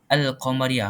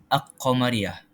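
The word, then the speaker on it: القمرية: qamariah perkataan al-qamariah tu kita sebut al-qamariah bukan aqamariah kita sebut lam tu lam tu kita Jelaskan cara bacaan dia secara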